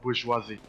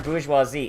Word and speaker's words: bourgeoisie: Like, can someone explain how the word size is spelled like that, but it's pronounced bourgeoisie?